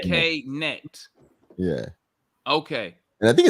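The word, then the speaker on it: Knecht: You say the K and then neck. Okay. K net.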